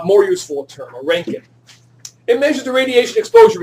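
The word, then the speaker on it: roentgen: useful in term a ranking it measures the radiation exposure in the air but not necessarily how much was absorbed a rank it it's pronounced Rankin so how much Gamma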